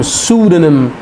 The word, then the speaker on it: pseudonym: तो सूडोनिम, PSEUDONYM, सूडोनिम. सो spelling देख लीजिए, PSEUDONYM, PSEU, सो सू, PSEU, सूडोनिम. डी को सॉफ्ट कर लीजिए, सूडोनिम, right. Next word, important word, CHIC, शिक.